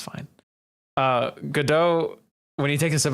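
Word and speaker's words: Godot: like saying it right but it's fine uh gdau when he takes a sip of coffee it's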